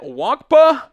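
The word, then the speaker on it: Nwankwo: I think the end is silent. Wonka, the safety out of Iowa.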